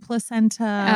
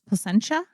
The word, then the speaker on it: Placentia: And then we talked about fried placenta. Oh, it got real fun. Yeah. So Placenta, California, shout out to, it's not placenta, it's placentia. I don't know what it is, but it's the brewery.